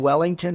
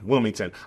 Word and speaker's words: Wilmington: But do you mean Wellington or Wilmington? Wilmington. I say it wrong because I just paid to have the horses moved, so it's a little traumatic for me.